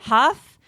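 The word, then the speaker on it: Hough: pronounce his last name is it Derek Huff Derek Huff right Huff uh he's from Dancing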